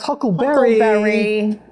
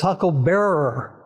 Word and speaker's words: huckle bearer: I'm challenging you huckles it wasn't pronounced Huckleberry it was huckle Bearer huckle Bearer well a